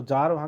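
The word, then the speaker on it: Tsar: है ठीक है और इसकी स्पेलिंग आप देखेंगे टीसीआर है इसको बोलते हैं जार अच्छा ठीक है जैसे हम जैसे यार को जॉइंट करेंगे तुरंत यूज करेंगे उस तरह से यह हो जाएगा जार चौरसिया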